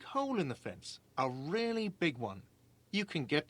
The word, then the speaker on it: real: What's real? Oh, excuse me. You owe me 130 real. He pronounces it with the R with a mock aristocratic accent.